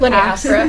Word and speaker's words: linea aspera: Linea aspera.